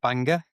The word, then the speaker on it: Bangor: town in Wales called Bangor. with an O instead of an E, right? That's right. It's pronounced the same.